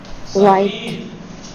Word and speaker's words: سفید: سفید. سفید نہیں پروناؤنسیشن تلفظ سفید مت کہیے گا.